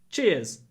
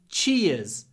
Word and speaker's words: cheers: two syllables che che Cheers Cheers don't pronounce the r cheers next one pretty